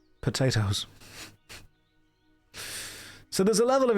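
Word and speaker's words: Pot-8-Os: But the way that the name was spelled was P O T O O O which is actually pot 8 O's pronounced potatoes.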